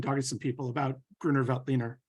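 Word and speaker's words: Grüner Veltliner: to some people about grunervelt leaner I'm going to start calling it now that's fantastic and um give it the true Austrian uh pronunciation but um I know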